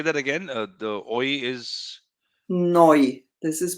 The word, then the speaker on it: neu: This is pronounced oi, neu, like in the currency euro. Huh? Oi. Okay, and Okay, this say that again. The oi is noi.